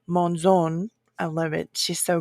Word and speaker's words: Monzon: Her last name is pronounced Monzon, so I apologize. And also, besides the Monzon, if you are her in-laws, it is Monzon.